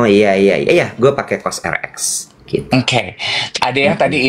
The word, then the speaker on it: Cosrx: Mereknya C O RX. Bacanya apa tuh? Cosrx. Oh, heeh. KX enggak tahu. Pokoknya Cosrx belinya waktu itu di ada satu supermarket beauty gitu di Melawai supermarket beauty Korea. Oh, Cos RX bacanya. Cos RX ternyata.